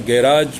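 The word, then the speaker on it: garage: Lawn और गैराज भी, मतलब गैराज भी कहते हैं इसको, गैरेज भी कहते हैं, दो प्रोनाउंसिएशन है, and both आर acceptable in English. आप गैराज कहिए या गैरेज कहिए, इसमें कोई अंतर नहीं है, कोई फ़र्क नहीं है।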